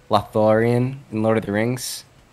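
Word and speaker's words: Lothlórien: Lothlorien, yes.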